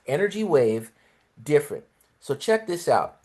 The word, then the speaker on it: NRG Wave: They they spell it NRG, but it's pronounced energy wave different.